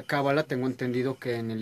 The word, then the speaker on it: cábala: Ya en castellano se pronuncia cábala, tengo entendido que en